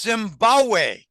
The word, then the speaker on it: Zimbabwe: He said, no, Zimbabwe. The second B in Zimbabwe is silent. It's Zimbabwe.